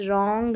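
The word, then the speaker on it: wrong: डब्ल्यू आर में W silent रहता है। याद रखें तो इसको राइट रॉन्ग रैप और यह है रेस्ट।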